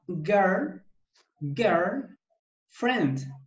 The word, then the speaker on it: girlfriend: Se escribe girlfriend, pero se pronuncia girl, Girlfriend. friend. Friend. No es friend, es friend. La I no suena al pronunciarlo.